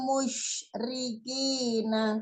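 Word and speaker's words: المشركين: Perhatikan huruf 'sh', hati-hati, antara 's' dan 'sh', pengucapannya berbeda. Anil anil musyrikina. Nah, seperti itu. Bunyi "sh", Anda bisa mendengarnya dengan jelas.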